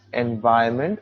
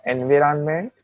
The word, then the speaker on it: environment: repeat again here the word is environment not environment not environment it's environment next sentence it also